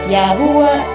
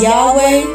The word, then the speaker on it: Yahuwah: It is later mispronounced as Yahweh, Jehovah, Javeh, etc.